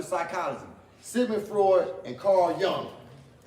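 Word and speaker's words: Jung: Sigmund Freud and Carl Young it's not junk y'all see it it's j-u-n-g but it's pronounced Young and they said that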